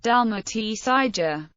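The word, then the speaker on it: Dalmacija: in modern Italian dalmia the modern Croatian spelling is Dalia pronounced Dal SAA dalmia is referenced in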